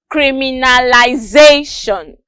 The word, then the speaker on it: criminalization: or d fifth syllable the correct answer is d fifth syllable it is pronounced criminalization thank you for your